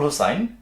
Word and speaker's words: হোসাইন: বলতে পারি যে আবুল হোসাইন ড্রেসেস এখন হয়তো আবুল হোসেন আমরা বাংলাতে আবুল হোসেন বলি ইংরেজিতে উচ্চারণটা সঠিক ভাবে বললে হোসাইন হয়ে যায় এটাই আসলে মূল উচ্চারণ